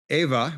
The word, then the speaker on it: Ewa: glad here currently I'm on Ava which is spelled Ewa it's near Pearl Harbor